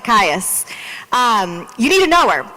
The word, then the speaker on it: Kious: And so if you don't recognize the name Erica Kious, did I say it right? Close enough? Pious like Kious.